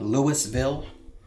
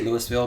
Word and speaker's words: Louisville: in the city of Louisville, Kentucky. I say Louisville because I know people get upset about how you actually pronounce it, like you have something stuck in your throat.